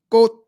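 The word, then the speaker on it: 꽃: if you somewhere it's halfway between a k and a g and it's pronounced with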